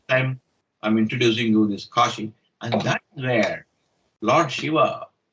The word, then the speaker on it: Kashi: once so this time i'm introducing you this kashi and that's where lord shiva is supposed to